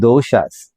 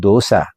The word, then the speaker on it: dosha: Okay, and these are called doshas, not dosa, not the restaurant one where we eat the food. No, it's called dosha.